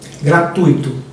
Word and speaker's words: gratuito: e em todas as relações sociais usando a pronúncia correta então vamos lá gratuito ou gratuito gratuito eh interim ou interim interim rubrica ou rúbrica